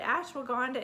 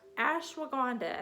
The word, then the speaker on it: ashwagandha: must-have okay all right ashwagandha and that's a-s-h-w-a-g-a-n-d-h-a the h is silent at the end but ashwagandha is known